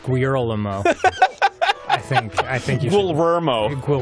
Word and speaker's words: Guillermo: First of all, it's pronounced Guillermo.